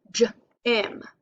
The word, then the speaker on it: gym: If you think of the word gym, here's a picture, it can make a short I sound, j-im. So it's a soft G.